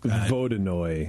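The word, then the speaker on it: Vodyanoy: loved the creature but his name is vajo and it's spelled v o d y a n o y but it's like vodo right it's a Bearded Frog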